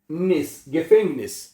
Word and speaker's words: Gefängnis: जो ई है इसको ए पढ़ा जाता है। क्या बनेगा? गेफेंगनिस, आ उमलाउट है। गेफेंगनिस जेल में, गेफेंगनिस है, ओके। तो er ist unschuldig, वो बेकसूर है इन गेफेंगनिस जेल में।